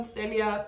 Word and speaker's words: Thalia: You're Talia, I'm Thalia. People pronounce our name the same.